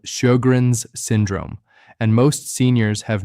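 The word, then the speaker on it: Sjögren's: The fifth cause is a condition called Shoggrren's syndrome and most seniors have never heard of it. Shoggrren's syndrome pronounced Shoggrrens is an autoimmune condition.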